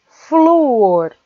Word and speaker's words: flúor: Saudável é paroxítona, que termina em L, e flúor é paroxítona, que termina em R também.